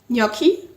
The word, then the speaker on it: gnocchi: you lunch we had gnocchi that's how you pronounce it don't listen to Mindy I think I always say gnocchi yes I think the Italians say gnocchi gnocchi um yeah and